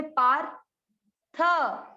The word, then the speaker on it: पार्थ: आधे र को पा के साथ पढ़े पार, थ जो आधा है उसको हमेशा पूरे के साथ पढ़ा जाता है। र आधा है तो पा के साथ पढ़ लिया पार, थ पूरा है तो थ में अब मिक्स किया, पार्थ, पार्थ में।